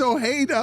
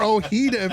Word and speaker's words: Ojeda: you had it though his name's Ojeda or ohida if you wanted to call him that you had the fajita